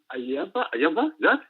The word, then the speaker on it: Ayaba: With the coming of Nnamdi Kanu and AYABA, That's right. Yeah, you pronounce his name right.